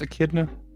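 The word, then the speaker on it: Echidna: Why does it look like I'm making Knuckles the Akidna? Is it pronounced Akidna?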